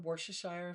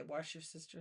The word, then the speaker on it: Worcestershire: Oh, you know, a lot of people mispronounce that. Uh Worcestershire sauce, they say wash your sister sauce.